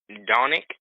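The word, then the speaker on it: Dončić: Luke Doncic on the point guard on Luka Doncic?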